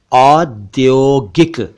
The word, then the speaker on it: औद्योगिक: बना औद्योगिक यानी इंडस्ट्रियल औद्योगिक औद्योगिक नहीं औद्योगिक नहीं बल्कि औद्योगिक और एक शब्द है प्रौद्योगिकी